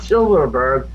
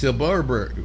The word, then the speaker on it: Silberberg: Not Silverberg. No V's, two B's. Silberg. And every time he's got probably spell it out for me. Right. Right. Right. Right. It's Silberberg.